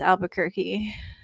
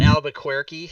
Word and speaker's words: Albuquerque: anything about albuquerque except that it's pronounced albuquerque yeah it's not albuquerque yeah or queer i happen to know